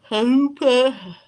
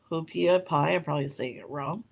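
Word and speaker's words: haupia: give me one second you call hoopa hopia is spelled h-a-u-p-i-a um basically it's a troubled taste of coconut um and it's a tradition this is the the pia is a traditional hawaiian coconut dessert such as halfway between pudding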